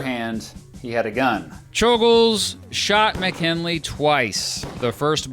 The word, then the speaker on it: Czolgosz: a man who has one of the most mispronounced names in American history, Czolgosz, walked right up to McKinley, acting like he was just going to shake his hand.